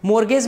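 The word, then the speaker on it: mortgage: रहे हो या फिर मोर्गेज के द्वारा ट्रांसफर कर रहे हो, मोर्गेज भी कहते हैं टी साइलेंट रहता है, लीज के द्वारा आप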